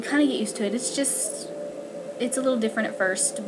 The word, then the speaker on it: iti: For instance, the word for tree is iti, and it's spelled ITI. So the I can have that I type sound, but it can also have that more E sound.